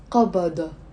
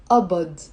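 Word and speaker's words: قبض: Now in the Lebanese dialect, we don't pronounce it qabada. We pronounce it abad.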